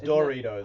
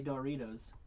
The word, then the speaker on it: Doritos: the proper pronunciation ja michael says dorritos i say doritos no and people disagree